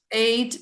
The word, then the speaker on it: eight: or what about this eight yeah so it's always like that ght we pronounce only t good all right what